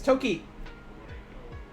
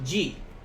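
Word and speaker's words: 時: And there are actually two ways of saying this, and we will be using both now. One way to say this is toki. One way of saying this kanji is toki. The other way is ji.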